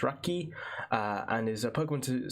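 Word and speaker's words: ラッキー: So Chansey is known as Lucky, pronounced Raki, and is a Pokemon said to bring joy and happiness with it.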